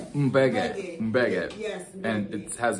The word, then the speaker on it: Mbege: Mbege. Mbege.